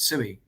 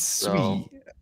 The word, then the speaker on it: Sui: Oh yeah, how do you pronounce it? Because I've heard, you know, didn't you say it was Sui, but like everyone says it's Sui, right? It's Sui. I mean, you know, it should be Sui.